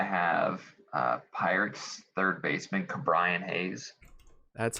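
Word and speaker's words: Ke'Bryan Hayes: the year i have uh pirates third baseman cabrian hayes that's how you say it yeah i saw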